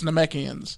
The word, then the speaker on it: Namekians: It's Namekians.